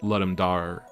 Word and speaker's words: Ludum Dare: I think it's pronounced Ludum Dare.